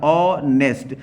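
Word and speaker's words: honest: लेकिन अब यहाँ आर्टिकल है, आर्टिकल क्या सही है, ऑनेस्ट कैसे लिखे, अगर लिखे ऑनेस्ट तो ऑनेस्ट ऐसे अगर हा लिखना है ऑनेस्ट, अगर ऐसे भी हम लिखें तो पहला वर्ड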